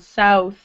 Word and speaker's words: south: This is an ow sound. South. Might want to watch my mouth. So it's ow, ow, south.